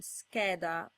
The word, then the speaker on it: scheda: The silent I and H rules apply, and you can see them in the words sciocco and scheda.